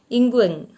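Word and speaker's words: Nqong: Ingwang. Pronounce it like that.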